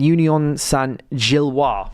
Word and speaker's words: Union Saint-Gilloise: So I think, I pronounce it Union Saint-Gilloise. That would be the correct. That's the correct one. That would be the correct pronunciation.